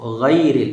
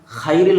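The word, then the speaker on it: غَيْر: এখানের মধ্যে আমরা এই গাইন, গাইন উচ্চারণ করবো, গায়রিল, এখানে খাইরিল হলে, যদি আমরা খাইরিল বলে দেই তাহলে আমাদের নামাজ হবে না, গাইনের মধ্যে খা হয়ে যাবে।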